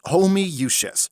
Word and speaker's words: Homoousius: It's pronounced homoousius. How? There's 20 O's! It's Latin.